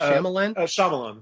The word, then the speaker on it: Shyamalan: And am I pronouncing his name correctly? Is that Shyamalan?